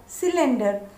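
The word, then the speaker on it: cylinder: सी वाई एल आई एन डी ई आर सिलेंडर.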